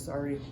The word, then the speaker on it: Saari: name is Sari. I'm born and raised here in Wausau, Wisconsin. And then so you I'm spell that Stephen for us.